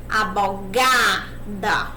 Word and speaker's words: abogada: Abogada. Qual a sílaba mais forte? O G. Então, o que acontece? Não começa pelo A tônico. A sílaba mais forte, a sílaba tônica é o G.